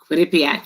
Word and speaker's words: Quinnipiac: first general counsel for let me make sure i pronounce it right quinnipiac quinnipiac you've got yak university she's serving as